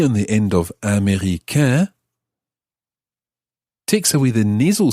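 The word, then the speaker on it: américain: of that is a m e acute r-i-c-a-i-n america that means american of course so following the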